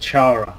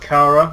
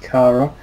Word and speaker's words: Chara: oh yeah uh you you'd be the perfect Chara honestly actually it's actually pronounced Cara I just realized yesterday it's pronounced Cara but I still say Chara because it sounds